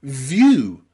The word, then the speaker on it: view: Think of words like view, view. In the word view, where you've got V-I-E-W, we pronounce that view, you. So V at the start and then you, view.